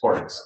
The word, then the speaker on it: Horgs: Horg. Is that how your name is pronounced, sir? Horgs. Horgs. Yes, sir.